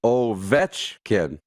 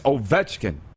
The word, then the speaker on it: Ovechkin: yeah look at ovechkin oh vetchkin not vegetarian it's ovechkin it's the middle syllable but as usual i'm